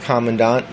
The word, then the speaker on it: Commandant: Believe it or not, it's actually called Commandant, so I've been pronouncing it wrong the whole time, and an 8-year-old girl told me that.